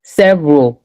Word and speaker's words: several: Memory, history, several, business.